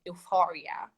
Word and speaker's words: Euphoria: Euforia. Euphoria, né, na pronúncia.